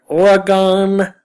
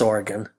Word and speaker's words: Oregon: OSU in Oregon, as Bud Selig would call it. It's Oregon.